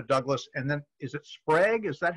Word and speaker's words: Sprague: uh uh rosetta douglas and then is it sprague is that how you pronounce her last name that's right the uh